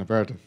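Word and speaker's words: apéritif: And this is one of those after you eat a heavy meal, it's an aperitif? Is that how you pronounce it?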